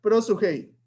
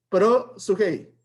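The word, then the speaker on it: προσευχή: significa oración cómo se pronuncia esta palabra se pronuncia pero su hey otra vez pero hey otra vez pero sugey y qué significa la palabra oración y que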